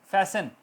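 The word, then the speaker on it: fasten: तो लिसन, अब देखें बिटवीन द वर्ड ये टी साइलेंट हो गया। लिसन, फैसन बांधना, लिसन सुनना, फैसन बांधना या जल्दी, फास्ट से फैसन, फैसन your C belts, T silent.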